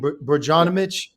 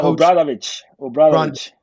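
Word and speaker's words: Obradović: I'm going to mispronounce his name, Romain Brdjanovic. No, Obradovic. He's a very good coach.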